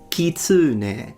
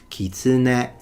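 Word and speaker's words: きつね: He says kitsune, so he made it into a high to low pitch and he stressed the u. The Japanese, they don't stress any syllable and it's a hair-bound word, so it goes kitsune, kitsune, kitsune ga.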